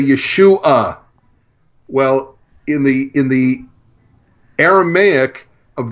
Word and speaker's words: Yeshu: So first his name was Yeshu, pronounced Yeshu, because that's how the Aramaic name would have been pronounced.